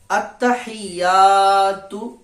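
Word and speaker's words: التَّحِيَّاتُ: আলিফ পরিমাণ টান দিয়ে পড়তে হবে তো আত্তাহিয়াতু আত্তাহিয়াতু লিল্লাহি লিল্লাহি আত্তাহিয়াতু লিল্লাহি ওয়াস সালাওয়াতু ওয়াস সালা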